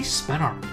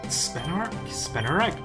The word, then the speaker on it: Spinarak: Some people say Spinark. Charlie says Spinark, and I'm not sure if it's the right name or not. It's spelled Spinarak, as in Arachne, as in spider.